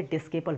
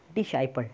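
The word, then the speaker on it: disciple: दोस्तों बहुत से लोग इसे डिस्केपल पढ़ते हैं, डिस्केपल नहीं, यहाँ पर आप प्रोनाउंसिएशन पर ध्यान दें, डिसाइपल, डिसाइपल इज़ a correct pronunciation.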